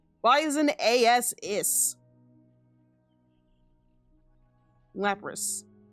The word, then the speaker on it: Lapras: Why is an as is Lapras? It's just a little weird for it to have an as for it to be an is sound. The Japanese one is lease.